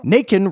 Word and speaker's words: Naken: Naken rhymes with bacon, and last week they